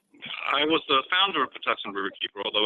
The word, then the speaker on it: Patuxent: So Rabia and Fred, I just had Rabia slide up, but Fred Tuckman, and Fred, will you please pronounce the name of the river for us? It's Patuxent.